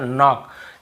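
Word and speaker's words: knock: जैसे देखिए नॉक, नॉक खटखटाना, नॉक नॉक ऐसा, तो नॉक, यहाँ पर भी के साइलेंट होता है, क्नॉक नहीं पढ़ेंगे, केवल नॉक पढ़ेंगे।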